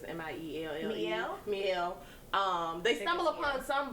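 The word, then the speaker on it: Mielle: I think I say that name wrong all the time, but it's M-I-E-L-L-E.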